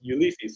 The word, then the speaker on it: Ulysse: see they see they they just think it's pronounced the same way ulysses and so that's how